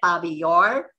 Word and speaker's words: Babi Yar: He went back to Kyiv, learned that his mother and his family had been murdered at Babi Yar, Russian pronunciation, or Babin Yar, Ukrainian pronunciation, and he realized he needed to go into hiding.